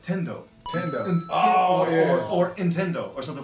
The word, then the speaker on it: Nintendo: Nintendo. Yeah, so that was the native pronunciation on Nintendo. Did you grow up saying it in any kind of American way? Yeah, you said the Hindendo.